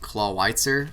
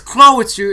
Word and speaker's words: Clawitzer: And somebody got mad at me because I pronounced it CLAWITZER one time. They were like, "It's CLAWITZER. It's based off that like 1920s handgun."